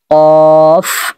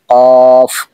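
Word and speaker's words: قاف: মিম কফ লাম মিম এখানে আমরা ভুল করে বলে থাকি কাফ লাম মিম এখানে কাফ লাম মিম না মানে উচ্চারণ হবে কফ লাম মিম আশা করি বিষয়টা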